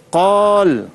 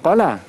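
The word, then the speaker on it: قال: Contoh, qalu ya Rasulullah wa ma hun qal. Bukan qala, tapi qal sebab dia berhenti. Jadi qal.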